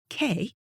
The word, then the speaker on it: Kay: My name, Kay, which I pronounce to rhyme with day, is spelled the same as a Danish man's name, Kai, which rhymes with pie.